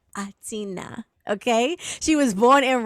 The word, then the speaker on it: H'Atina: Now, it's spelled with an H. I usually try to put the H sound in there, but when the bio came through, she was very clear, okay? The H is not sound, it's silent.